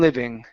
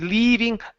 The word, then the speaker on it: living: People have been living. People have been living. Uh-huh. Li. Instead of leaving li living.